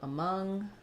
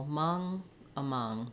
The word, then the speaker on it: among: on what stressed so thinking about among I would write it more like this and to practice I would start on the stress syllable among that's going to help you get the Rhythm and help you get that unstressed short ah sound at the start uh thank you for